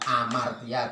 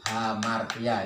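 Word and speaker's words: ἁμαρτία: Ini bukan amartia tapi hamartia. Ini ada ini. Memang tidak ada huruf H, tapi karena ada tanda seperti ini berarti bacanya hamartia.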